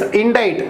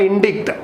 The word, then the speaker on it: indict: It's indict, not indict. It's indict. Pronunciation, be careful here.